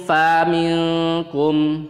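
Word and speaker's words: فمنكم: Yang pertama, mim sukun bertemu huruf fa pada kalimat khalaqakum faminkum. Nah, di situ bacaannya adalah idhar syafawi dan kalian tidak boleh membacanya dengung.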